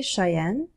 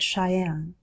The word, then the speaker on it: Cheyenne: Wyoming the Equality state I say Cheyenne but I've also heard Cheyenne Helena Montana the treasure